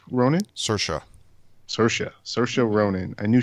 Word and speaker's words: Saoirse: I knew how did you say her name cerise Ronan Saoirse Saoirse Saoirse Ronan I knew she was in